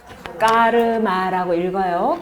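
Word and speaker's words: कर्म: 업이라고 하는 것은 요거 어떻게 읽는다고요? 까르마라고 읽어요. 까르마라고 읽는데, 요 까르마라고 하는 것은요, 꾸리라고 하는 이 어근에서 이게 문법적으로 이제 변형이 된 거예요.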